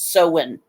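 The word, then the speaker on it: Samhain: the words you say on this night of sewing or Sam Hayne is how it's spelled s-a-m-h-a-i-n but it's pronounced so when on this night of sewing I Mark your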